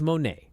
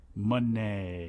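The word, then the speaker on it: Moné: that uh it's Mercedes M no it's Mercedes Monae Monae in La unless you're going to call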